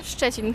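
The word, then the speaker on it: Szczecin: How do you pronounce this place? Čečin.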